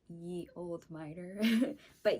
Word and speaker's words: Ye: know I spelled like Ye Old miter but ye like when you say like when you see the y and e is actually Old English for the so that's why I say the old miter